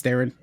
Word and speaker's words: Theron: So it's Theron. but yeah, you've been sabotaging us with Clan Theron, and there's a we know you're doing that,